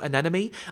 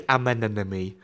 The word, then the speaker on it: Anemone: The other thing about Anemone is that in my head, I know that you pronounce her name Anemone. I keep wanting to say Amenenemy, like with an M start.